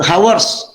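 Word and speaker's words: Haworth: Bacanya Howard, ya? Ya, Bacanya itu Howard.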